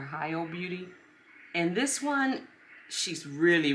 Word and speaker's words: Hilo Beauty: I think it's pronounced Hilo Beauty or Hilo Beauty.